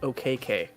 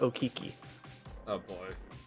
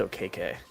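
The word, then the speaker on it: Okeke: and his family his last name was actually pronounced okk not okiki like what what do you mean it's okay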